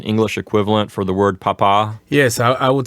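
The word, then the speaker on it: papá: correct syllable yes now with the word papa if you put it on the wrong syllable it actually changes it into a different word right yes if we say in the correct way of saying it is Papa but if we say the accent on the first syllable you would say Papa Papa means potato in Latin America so we don't want to we don't want anyone to accidentally call their dad potato yes that's right and then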